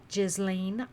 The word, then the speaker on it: Ghislaine: girlfriend and alleged madam, Ghislaine Maxwell. I haven't heard anybody say her name right. I think it's Ghislaine.